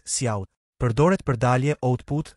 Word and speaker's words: cout: header file <iostream> ("cout" (pronounced "see out").